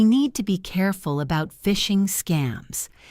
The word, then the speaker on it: phishing: We need to be careful about phishing scams. Phishing, spelled with a PH, is when hackers try to trick you into giving them your password by sending fake emails. It sounds like fishing, like catching fish.